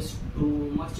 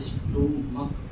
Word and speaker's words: stomach: लेकिन स्टोमच नहीं होगा भाई साहब, क्या होगा, यहाँ पे स्टोमक, स्टमक, स्टोमक नहीं करते हैं, स्टमक हम लोग करते हैं, स्टमक बोलते हैं।